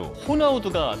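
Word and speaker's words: Ronaldo: 같아요 시금치 먹어라 그리고 1976년에는 브라질의 축구 선수 호나우두가 태어났습니다 호날두 말고 호날두죠 스펠링은 같거든요 사실 브라질 선수 전혀 다르게 생겼고요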